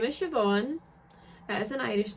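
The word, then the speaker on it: Siobhan: right into it then so my name is sioban it is an Irish name it's spelled crazy I get asked about it all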